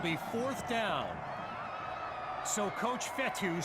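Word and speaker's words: Fetu: fourth down so coach fethu spelled f-e-t-u for the longest time i was pronouncing it coach fetta like feta cheese so let's just say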